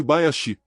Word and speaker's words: Bayashi: Matsu significando pinheiro e Bayashi, é a pronúncia de Okinawa de Hayashi para floresta.